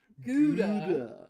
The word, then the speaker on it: Gouda: I've also never heard it pronounced like that. Oh, sorry. Yes, in this house we use the proper cheese names. Well, I mean, Gouda. Gouda. Gouda. But This cheese Howda so is how it's Gouda.